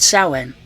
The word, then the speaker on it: Samhain: On October 28th, NWA presented a pay-per-view spelled Samhain but pronounced Samhain, because leave it to Billy Corgan to run an event where even the name is awkward.